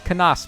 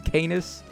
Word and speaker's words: Canas: canas is up next it's kanas by the way guys i was calling him canis well i've always called him canis but i'm pretty sure the way you say his name is kanas i'm still going to